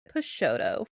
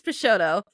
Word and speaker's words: Peixotto: the life of Grace pesoto I think that's how you pronounce it pesoto um turns out that